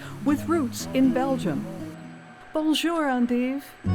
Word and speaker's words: endive: The pronunciation, "ON-deev," honors the origin of the plant in Belgium, where, almost two centuries